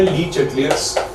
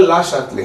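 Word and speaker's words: Le Chatelier: देखिए, इसका Indian pronunciation है ली चैटलियर्स। वैसे तो ये एक फ्रेंच वर्ड है और आप जितने लोगों को फ्रेंच अगर आती है, इसका एग्जैक्ट प्रोनाउंसिएशन होता है ला शातले। क्या होता है, ला शातले, लेकिन हम हिंदुस्तानी इसे ली चैटलियर ही बोलते हैं।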